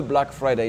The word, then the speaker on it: Black Friday: Black Friday, ici, le A, il est long. Ce n'est pas comme on a en français, black, Black Friday. Non, ce n'est pas black, c'est black.